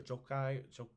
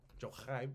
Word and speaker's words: Jochi: Jochi is how we would spell it. Jochi or Jokai. Jochai, maybe. That was his eldest son.